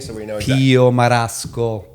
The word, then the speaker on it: Marasco: Spell it for me so we know you. Pio Marasco.